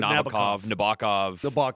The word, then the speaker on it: Nabokov: Sting would pronounce it Nabokov. Here That's we pronounce in the song, Sting's referring to the book Lolita, which was written by Vladimir Nabokov.